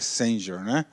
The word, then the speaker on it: Senge: organizações que aprendem pelo Peter Singer Peter senge Peter Singer com marcar código qualquer um pode escolher a forma da pronúncia né então Peter Singer